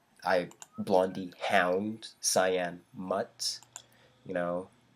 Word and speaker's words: Blondai: i got my name blondai is how it's spelt but blondie is how it's pronounced here in canada i don't know about